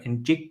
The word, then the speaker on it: Njigba: I should have looked up how to pronounce his name. Njigba, I believe, is how you say it.